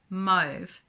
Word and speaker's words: mauve: items in the color move which is m-a-u-v-e how you pronounce this up to you but this is how i've learned to pronounce it move is a and i'm